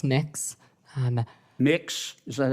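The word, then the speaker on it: Mx: what you're you're proposing it's pronounced mix um mix is that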